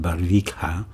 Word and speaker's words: Barvikha: The name of the town is spelled Barvikha, and I pronounce it Barvikha, Russia.